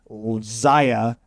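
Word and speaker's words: Xia: favorite on here is Zia or Shaw depending on how you want to pronounce it.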